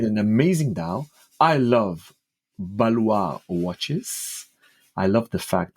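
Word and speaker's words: Ballouard: So lot 40, Ludovic Boulliard. Wow, that's terrible pronunciation, but yeah, okay, we'll go. Balois.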